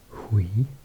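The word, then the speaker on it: Huy: There's one called, I believe this will be pronounced in French, Uy. Quite tricky to say. And each of them have the name in the other language as well. You can see in brackets, like Liège, I think it's pronounced Leuk, and Uy is pronounced Hui in Dutch, Flemish. Okay, turn the page again.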